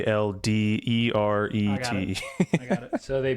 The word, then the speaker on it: Alderete: Adelete. Excuse me, Alderete.